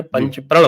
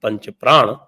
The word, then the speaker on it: पंच प्रण: उसम उन्होंने लिए थे जिसको ही ऑफेन मिस प्रोनाउंस एस पंचप्राण वसे पंचप्राण भी है हमारे यहां आयुर्वेद में पंचप्राण होते हैं तो पंचप्राण भी कह सकते हैं लेकिन लेन अधिकतर उसको पंच प्रण मानते हैं तो जो पंच प्रण